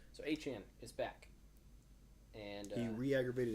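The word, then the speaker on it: Achane: And is it A-Chain is how you say his name? A-Chan. A-Chan. I thought it was A-Chain. Nah, he came out and said it's A-Chan.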